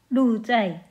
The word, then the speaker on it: 鹿柴: 이 시의 제목인 녹채는 중국음으로 루자이라고 읽는데요.